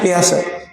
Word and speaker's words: Piaget: Ahli psikologi Barat yang namanya Pease, tulisannya Piaget ya dibacanya piase.